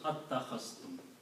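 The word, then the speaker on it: أتخذتم: one with a fatha, the first alif is pronounced and it is pronounced as attakhastum.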